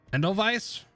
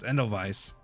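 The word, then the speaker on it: Edelweiss: Endelweiss? The W is pronounced as a V.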